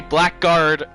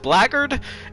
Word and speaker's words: blackguard: say it i say blackguard and i just say blackguard to say to say that but i think it's pronounced blagard it's a weird word